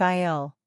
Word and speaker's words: aisle: Remember, the S in aisle is silent. It sounds like aisle.